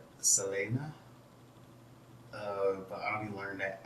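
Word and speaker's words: Selene: do that to do technically it should be pronounced like selena but i'll be learning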